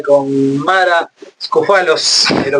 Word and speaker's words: Scoufalos: Estamos conversando con Tomás Viola y con Mara Scofalos, ¿lo pronuncié bien?